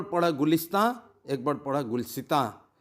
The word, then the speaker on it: गुलिस्तां: तो कौन सा प्रोनाउंसिएशन ठीक है, आपका जहन में इस सवाल उभर सकते हैं। गुलसितां जो उर्दू स्पेलिंग है गुलसितां, गाफ लाम सीन ते आलिफ नुगुन्ना, लेकिन शायरी में छूट है। प्रोनाउंसिएशन का वज़न बराबर रखने के लिए, वर्ड्स का वज़न बराबर रखने के लिए गुलिस्तां पढ़ा जाता है।